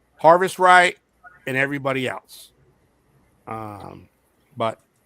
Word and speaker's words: Harvest Right: Harvest Right?